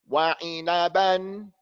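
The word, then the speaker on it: وَعِنَبًا: But here, this is the way I think you're going to make the mistake. You're going to go wah. I'm going to go wah. You all are after me. Wa'i. Wa'ina. You're going to take your time. Wa'inaban. Make it clear.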